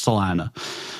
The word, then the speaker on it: Salina: where the city or town of Selena is Salina but yeah Salena damn it okay everybody always says Selena I'm I'm sure we are wrong by the way like I'm sure it's us who pronounce it wrong but but yeah we it's Salena well if you're from